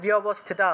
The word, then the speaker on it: ব্যবস্থিতা: তাহলে শিখাম মে দ্যুতিনি রক্ষেত, দ্যুতিনি রক্ষেত, উমা মূর্ধির, মূর্ধীর্ণা, মূর্ধীর্ণা ব্যবস্থিতা, এখানে ব্যবস্থিতা লেখা ছিল, ব্যব লেখা ছিল, এই জফলা থাকায় বিয় উচ্চারণ হয়েছে, তাহলে ব্যবস্থিতা, ব্যবস্থিতা, বিয়টা একসাথে উচ্চারণ হবে, মূর্ধিনা, মূর্ধিনা, ঠিক আছে,